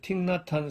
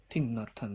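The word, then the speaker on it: Thích Nhất Hạnh: 그러니까 석일행인데 이게 베트남 발음으로 틱낫한입니다. 틱나탄 스님, 석일행 스님이에요.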